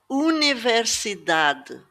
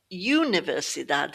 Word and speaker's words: universidade: The letter U is pronounced U, not you. So the word we just visited, universidade. It's not universidade, it's universidade.